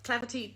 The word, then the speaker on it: Clapotis: So Clapperty, definitely. I just think it's a free pattern on Knitty. It's spelled Clapotis, in case you have never seen it before.